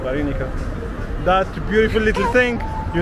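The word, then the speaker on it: вареники: Can you pronounce it because you do it better? Vareniki. Varenika.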